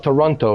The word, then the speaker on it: Toronto: Yeah, so you take away the T and you change it to an N. Toronto. Yeah, Toronto. But you got to say it like really fast. Toronto.